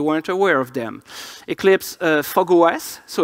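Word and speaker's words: fog05: aware of them Eclipse fog OS so it's pronounced zero five no it's written zero five is pronounced fog OS this is what happens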